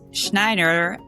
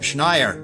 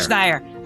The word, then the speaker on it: Schneier: Bruce Schneier, I did it, did I get it right? Nope, Schneier, rhymes with frequent flyer. Schneier, okay, ready? Bruce Schneier, rhymes with frequent flyer,